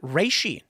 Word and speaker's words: reishi: It's also got reishi. Am I pronouncing that right?